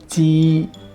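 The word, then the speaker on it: 鸡: J right here is pronounced as zhe, ji, ji, not g, not z, ji, ji means chicken.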